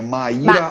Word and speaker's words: Mayra: ajuda a pronunciar o seu nome. É Maíra Maíra.